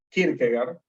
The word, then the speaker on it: Kierkegaard: Søren Kierkegaard vivió entre 1813 y 1855. Es danés, por lo tanto, pues su apellido no se pronuncia con pronunciación en inglés, por si se lo estaban preguntando.